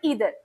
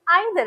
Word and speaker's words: either: अगर हम नीदर बोलेंगे तो फिर हमें ईदर बोलना पड़ेगा, लेकिन अगर हम नाइदर बोलेंगे तो फिर हम आइदर बोलेंगे। और ये दोनों ही प्रोनाउंसिएशन क्या है इंग्लिश में वैलिड होती है।